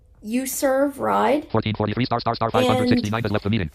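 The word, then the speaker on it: uZurv: available for Android or not but it's called you serve ride 1443 59 left meeting it's spelled u z as in zero U RV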